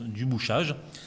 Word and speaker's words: du Bouchage: vous en avez un il s'appelle du bouchage comme ça se prononce du bouchage il est ministre secrétaire